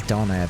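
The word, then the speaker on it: döner: Well, my family says doner, but I'm pretty sure it's supposed to be pronounced doner, but I don't care.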